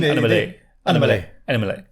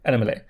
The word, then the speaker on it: Annamalai: Correct pronunciation? Annamalai. Annamalai.